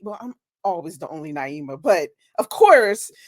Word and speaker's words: Naima: still get it wrong that is a long long eye you see the little H in the long eye with my name people like you know